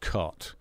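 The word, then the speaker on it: Cait: Shane invited cut O'Riordan her name looks like Kate but it's actually pronounced cut and a drama called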